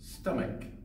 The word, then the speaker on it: stomach: nine is stomach now people often mispronounce this word by saying stomach or stomach but there's an excel at the end of the word stomach so we say stomach Wow my stomach hurts